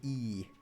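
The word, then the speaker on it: Ii: There's there's a town in Finland called E. It's spelled as I I.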